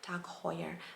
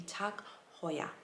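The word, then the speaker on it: TAG Heuer: avant-garde and hoya so hoya uh is pronounced in a german way however i've heard people saying hoyer so like an english kind of way tak hoyer but the correct way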